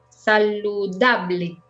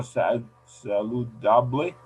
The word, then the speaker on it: saludable: Saludable. O saludable? Sí. Saludable. Sí, yes. Súper bien. Yeah, I'll read it. Saludable, son 4 sílabas. Saludable.